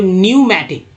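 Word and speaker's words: pneumatic: अब देखिए पी जो यहाँ साइलेंट है, पी एन ई यू एम ए टी आई सी, तो न्यूमैटिक क्या पढ़ेंगे, न्यूमैटिक एंड इलेक्ट्रिक, न्यूमैटिक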